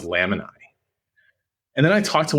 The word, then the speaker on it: Lamini: of my friends, and she was pronouncing it Lamini. And I was like, what is this? How do you say this? And then I got on a call with their team, and they're like, oh, it's pronounced Lamini.